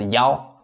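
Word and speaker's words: 幺: That's why I mark with four red arrow here because for this number one, we can't read it as e. We need to read it as yao.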